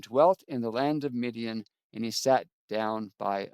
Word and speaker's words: Midian: And Midian in Hebrew is pronounced Midian.